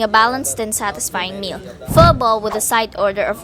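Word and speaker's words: Phở bò: I know how to pronounce it now. Mama ordered pho bo, one of the standout noodle soup of Pho Hung.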